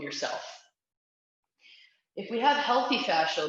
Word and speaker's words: fascia: the difference between healthy fascia um and unhealthy fashion now it is pronounced fascia but i think it's so pretentious that i